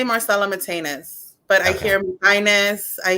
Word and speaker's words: Marcela Mitaynes: what's the how's your preferred way i say marcelo matinus but i hear highness i hear and and